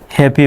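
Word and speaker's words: happy: যেমন এইচ A double P ওয়াই এটা কিন্তু হ্যাপি বানান হ্যাপি হ্যা পি অর্থাৎ এখানে ওয়াইটা রসকারের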